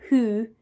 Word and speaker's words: who: And this whole word was tricky because we have the w sound and we have an o, but who sounds completely different from that.